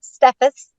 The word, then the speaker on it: Steffes: have a great guest for you uh stephus did I pronounce the last name correctly yes oh perfect